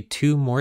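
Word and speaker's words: Thue: though so there is a sequence called the two more sequence two is pronounced two and spelled t-h-u-e and it's denoted t sub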